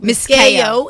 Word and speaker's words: Miscayo: Miscayo is how you pronounce it.